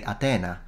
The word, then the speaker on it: Atena: modern Greek pronunciation but in Italian we say atena so it's there isn't aspiration because Italian and aspiration